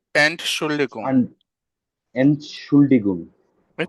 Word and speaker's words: Entschuldigung: উচ্চারণটা কিভাবে হবে যে এন্ড শুল্লিকুম, আন, এনশুল্ডিগুম, এই তো হয়ে গেছে, আরেকবার বলেন। এনশুল্ডিগুম।